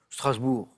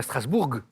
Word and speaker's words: Strasbourg: Vitri sur scène fatimacable Strasbourg c'est simple on dit pas Strasbourg certains le disent mais mais il se trompent vous l'entendez parfois